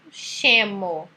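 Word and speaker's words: scemo: Aí depois vem a sílaba SCE, que tem som de che. Então, aqui embaixo, por exemplo, chemo.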